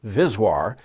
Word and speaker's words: VSWR: term voltage s SWR or vswr often pronounced vizir is synonymous with s